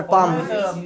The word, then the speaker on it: palm: कौन सी हथेली पर, पाम पाम पाम पाम, PALM, L silent होता है, हाँ कौन से हथेली पर, तो on which पाम, on which पाम, very good.